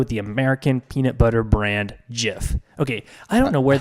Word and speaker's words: GIF: butter does exist so so it's pronounced jiff exactly and even if you